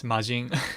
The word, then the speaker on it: majin: you gotta clarify that it's majin like in dragon ball z in english um because in japanese it's majin you don't extend the r so you have to say like the pronunciation in english yeah anyway yeah yeah